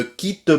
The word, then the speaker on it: quitte: Ne, me et quitte, on ne prononce pas le E final. Ne me quitte pas.